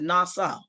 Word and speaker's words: NAWSA: okay 1895 she joined nawsa i pronounced it nassau the white voters organization